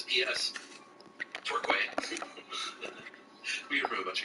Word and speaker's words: Torquay: You mentioned the other week, and I think the Agatha Christie segment, we would pronounce it tour, as a tour bus in key, Turkey.